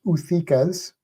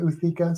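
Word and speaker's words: ootheca: Also, I don't know if I've said this on here, but a few weeks ago, I ordered off Amazon 2 praying mantis uthikas.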